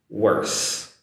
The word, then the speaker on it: worse: So I want to put that sentence together only to show the differences in pronunciation of worth and worse. TH for worth and the S sound for worse. Practice that one. Worth, worse.